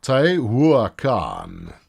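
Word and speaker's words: Tehuacán: So we have so far gone from Tehuacan. That's an H. The H is pronounced as a W. I'm reliably informed. Tehuacan.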